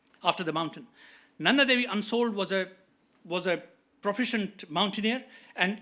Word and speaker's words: Unsoeld: Willie Unsold, I'm not able to pronounce it properly. It's Unsold.